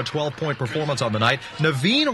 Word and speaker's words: Naveen: Naveen Rashid, whose name rhymes with machine, sometimes her offensive output making her seem like one.